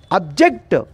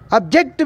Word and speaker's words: object: Object means we put the stress in second syllable. It is a disyllabic word. Object, objection of your statement. I did not agree with you. That is the meaning of object. The word stress has been changed in the first syllable. We don't stress the second syllable.